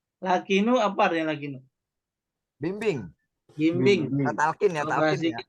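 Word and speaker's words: لقنوا: apa nih lakinu mautakum lakinu lakinu bukan lakanu lakinu apa aranya lakinu bimbing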